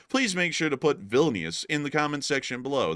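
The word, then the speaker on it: Vilnius: in the video please make sure to put villus in the comment section below that is the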